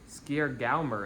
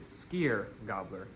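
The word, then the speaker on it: Skyrgámur: On December 19th, Skier Galmer is coming to your house. His name roughly translates to Sky gobbler. Uh, and I just realized I'm pronouncing that wrong. It's actually skier gobbler.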